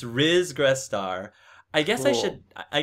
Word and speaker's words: Ris Grestar: talking about it makes know how to pronounce my name r is yes it's r is gress star i guess i should